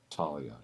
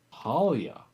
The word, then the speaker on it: Paulia: time that's okay uh it's not Talia it's paulia Alia okay there we go